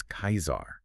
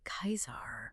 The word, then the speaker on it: Caesar: We say Julius Caesar, but the ancient pronunciation, as historians tell us, was closer to Julius Kaisar, right? Kaisar.